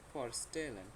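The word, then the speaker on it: vorstellen: পরিচয় দেওয়া বা পরিচয় করিয়ে দেওয়া হচ্ছে ফরস্টেলেন। এটাকে আমরা একটু তিন ভাগে ভাগ করি। প্রথমে ফর, তারপর স্টে, তারপর লেন।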